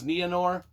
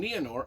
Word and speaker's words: Nienor: I don't know even how to pronounce this, even though I listened to Christopher Lee pronounce it over and over. I think it's Nienor.